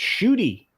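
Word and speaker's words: Ncuti: oh and uh and according to small-time republicans pronounced shooty all right i feel better i think he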